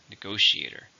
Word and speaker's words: negotiator: so it's countable noun how many syllables in negotiator five stress in a second negotiator skillful negotiators will be